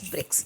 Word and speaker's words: BRICS: Rather, it is taken as a word and pronounced as BRICS.